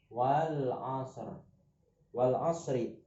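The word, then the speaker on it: والعصر: Bacanya wal asri. Ya, wal asri. Ini contoh alif lam apa namanya? Nah, ini. Ya, ada alif lam bertemu, ada alif lam, alnya terdengar, kemudian setelah al ada huruf ain.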